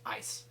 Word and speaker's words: IC: uh intrusion counter measures abbreviated ic and pronounced ice so there's a lot